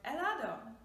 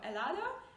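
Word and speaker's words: helado: h yeah but uh make sure you don't pronounce it remember please it is a silent letter okay so for example you have the word elado ice cream which is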